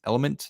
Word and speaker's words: LMNT: I drink this thing called LMNT, otherwise known as Element. That's actually how it's known, but it's spelled LMNT.